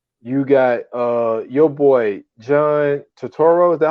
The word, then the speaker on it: Turturro: You got your boy John Turturro.